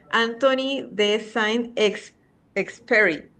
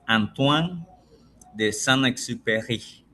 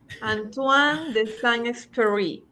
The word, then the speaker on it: Antoine de Saint-Exupéry: Estamos hablando, y tú me vas a corregir el francés, Anthony de Saint-Exupéry. A ver, dígamelo usted cómo es. Sí, el nombre se pronuncia en francés, Antoine de Saint-Exupéry. Antoine de Saint-Exupéry.